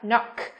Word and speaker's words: knock: Và từ thứ ba, gõ cửa chúng ta có từ knock nhá, knock. Chú ý không được phát âm là gì các em? Knife, knee và knock nhá.